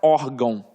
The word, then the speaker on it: órgão: Porque, na verdade, eu tenho aqui, ó, uma paroxítona. Beleza, terminada em ditongo. Aí ela não fala assim, ué, mas não tem o danado do tio aí? E aí, o que eu faço com isso? Vamos lá. O tio é uma marca de nasalização. Ele não está mostrando que a sílaba é forte.